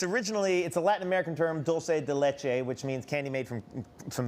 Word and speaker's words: dulce de leche: It's dulce de leche. I just made my very own douche de louche, which No.